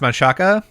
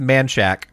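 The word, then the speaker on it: Manchaca: which should be pronounced Manaka or Manaka yeah Manaka yeah yeah no it's pronounced manshack what yeah everybody in Austin pronounces it man Shack and it sucks man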